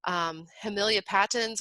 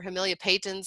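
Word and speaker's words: Hamelia patens: Hemilia patens or Hemilia patens, I've heard it pronounced both ways.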